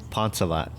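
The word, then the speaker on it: Phonesavath: look at it they're like what the heck ponzalet but it's spelled p-h-o-n-e-s-a-v-a-t-h when people see it they're like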